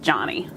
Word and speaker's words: Joni: My name's actually pronounced Johnny.